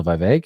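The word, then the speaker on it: Vivek: VI you guys know Vive rhymes with cake uh he has he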